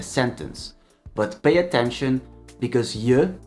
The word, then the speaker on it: je: But pay attention because je and jij, as you can hear, are pronounced differently, and the difference in pronunciation matters.